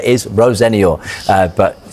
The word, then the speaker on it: Rosenior: I say Rosenia, by the way.